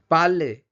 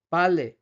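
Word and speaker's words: parler: এখানে কিন্তু শেষের আর গুলো কিন্তু উচ্চারণ করা হবে না। মজে, পালে, দন্সে সন্তে। মৌসে, পারলে, দ্বন্সে, সন্তে নট, দন্সের, শান্তের। এরকম কিন্তু না। মসে, পারলে, দ্বন্সে, শান্তে।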